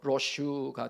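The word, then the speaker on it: Roche: 물론 스위스식 발음은 로체가 아니고 로슈가 됩니다만은 이 무조건적인 사랑으로 인한 기쁨, 어떤 이유도 따지지 않으며 존재만으로도 즐거운 기쁨이 바로 히브리어 로체입니다.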